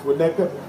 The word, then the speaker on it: Winnetka: from from I don't even know how to pronounce it so when that get right is winnetka it's a long journey from Winnetka buddy and